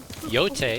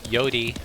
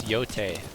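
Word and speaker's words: Yōtei: And I look forward to playing Ghost of Yote. I think that's the proper pronunciation of how to say it. Some people were saying Yodi, but I guess it's Yote. Ghost of Yote.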